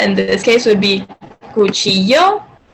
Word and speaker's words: cuchillo: The pronunciation for that in this case would be cuchillo. So in Spanish, 2 L's make the sound, I guess, like, you kind of like, it's like yo.